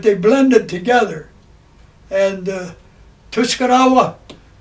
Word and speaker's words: Tuscarora: blended together and uh tuskarawa actually i've heard it pronounced tu scalolla r in many languages is l but uh the uh